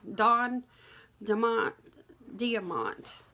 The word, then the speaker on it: Don Diamont: But anyway, today we're going to talk about Bill, Don Diamont, I believe is how you pronounce it, Bill Spencer Jr.